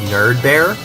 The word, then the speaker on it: nerdbe3re: So I want to say it's pronounced Nerd Bear, but I don't know.